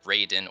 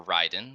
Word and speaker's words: Raiden: debuting the new unit called Raiden or Ryden depending on how you'd like to pronounce it it's a lightning attack